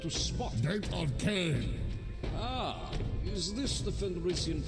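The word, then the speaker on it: Khaine: Gate of Cain. Ah, is this the Fenrisian pronunciation of corn? Not corn, Cain.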